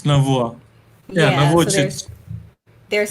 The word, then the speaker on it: Navua: Am I pronouncing that correctly? Yes, it's Navua.